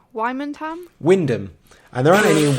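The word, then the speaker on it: Wymondham: Wymanham? Wyndham.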